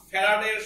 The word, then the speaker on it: ফ্যারাড: এইটাকে আমরা আজকে থেকে বলবো ফ্যারাড। জিনিস বলি, ইন্টারমিডিয়েট লাইফ শেষ করে ফেলে পোলাপার, কিন্তু এটা এটা নাম উচ্চারণ করে ফ্যারাডে, এটা ফ্যারাড, ফ্যারাডে হচ্ছে কেমিস্ট্রির কথা, ওটা অন্য জিনিস, এটা ফ্যারাড।